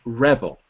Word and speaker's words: rebel: notice notice rebelled and Rebel Rebel is a verb and rebel is a noun Serge okay okay that's